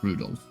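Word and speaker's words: Rudolf: That mess of characters is pronounced Rudolph.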